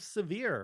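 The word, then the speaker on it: Sivir: next up another champion we have severe or sever however we want to pronounce her name i say severe i know some people like to say sever i still say severe because it sounds better to me uh she is a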